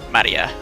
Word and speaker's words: Maria: name is written that of course that is pronounced Maria a third character looks like a cross which